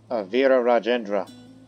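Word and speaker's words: Virarajendra: that's the title and his name is uh Avira rajendra that's how you say his name despite the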